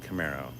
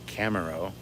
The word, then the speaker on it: Camaro: robbed while i work now i am not mispronouncing camaro unless you want to say camero like bolonna torres but that's when you put an e in that second slot instead of two a's that's when it's a